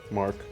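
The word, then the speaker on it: marque: Marquue. Is it Mark? Mark. Thank you, sir.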